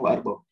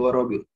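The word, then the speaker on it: وأربعون: Nah, kata Ibnu Abil Iz, wa arba'un, yang boleh dibaca, yang benar bacanya wa arba'un. Ada juga baca wa rabi'un. Wa rabi'un, tapi lebih tepat arba'un.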